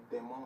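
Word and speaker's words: Demons: He said it's pronounced Demon. His last name is Demon. It's D-E-M-O-N-S.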